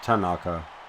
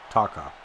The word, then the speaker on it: Taka: he pronounces his name no not tanaka taka no n no extra a just anyway